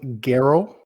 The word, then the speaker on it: Geralt: descendants yeah so uh his name was geralt and i think last last episode i butchered his name i said gareth but uh gero was